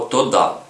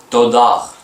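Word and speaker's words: תודה: або зліва то да і якби би ми цього правила не знали ми би прочитали тодах але в кінці гей не читається Ми пам'ятаємо це тода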